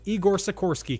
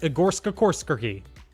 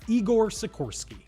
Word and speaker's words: Igor Sikorsky: should all be very proud of me I pronounced Igor Sikorski correctly foreign that is it for round number one double or nothing if you also initially read that name and was like yes it's pronounced egorska korskerky because that is what I initially thought but